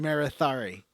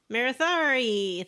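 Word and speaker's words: Marethari: i wasn't sure how to say her name marithari marathari thank you uh and she's like yeah thanks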